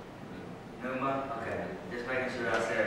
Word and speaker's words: pneuma: I can't say it, so I'm going to spell it, and then maybe someone can interpret it for me. P-N-E-U-M-A. Pneuma.